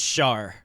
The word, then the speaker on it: Char: we're i'm saving char for a second it's pronounced shar char char but um she's kind of like